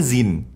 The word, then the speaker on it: zine: Gimana sih bacanya, Zine apa Zin? Zin. Magazine, right? So Zin bukan Zine.